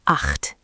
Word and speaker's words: acht: Eight is acht, eight. That ch is throaty, acht.